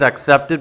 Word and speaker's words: accept: He was accepted by 3 colleges, and the pronunciation is the short A, like the A in hat, at, hat, and then K, ack, and then the second syllable, which is the same as the first word, sept, accept, accept. So the difference is the ick and the ack.